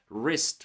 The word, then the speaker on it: wrist: Silent W appears before R. Words like right, wrist, wrong. Okay, just forget about W and say it without it and you will sound correctly.